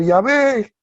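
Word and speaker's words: Yahvé: este diciéndome que que se debería pronunciar Ya ve y que ese es el nombre Exacto Que Jehová es una invención ya de nuestra cultura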